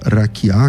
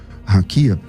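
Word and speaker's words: רקיע: E essa e essa palavra é raquiá que você por alguma razão pronuncia raquia.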